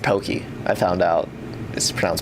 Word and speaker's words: Pocky: nice and that's some pockys it's actually pronounced pokey I found out this